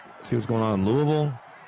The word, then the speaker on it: Louisville: joking with him as we were trying to pronounce things obviously in louisville it's not louisville and it's not louisville it's louisville and they'll they'll get on you